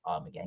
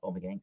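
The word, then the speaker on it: Ommegang: They dropped by brewery Amagang, I believe it's pronounced Amagang, not Omegang, Amagang, and left behind a present of Chouf yeast for our brewing team.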